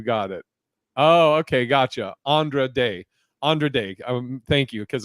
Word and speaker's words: Andra Day: was going on and little little trivial uh mispronounced my name as Sandra and you got it oh okay gotcha Andra day Andre day thank you because I I don't